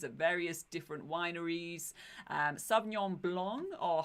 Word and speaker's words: sauvignon blanc: can sample wines at various different Wineries and Sauvignon blonde or how do you pronounce that sauvignon blanc yeah that is the is the most popular